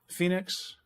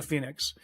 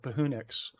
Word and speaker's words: Phoenix: something to Phoenix, but he doesn't know how to pronounce it, so he calls it Pahunix. And that's always stuck with me. That town name is Pahunix.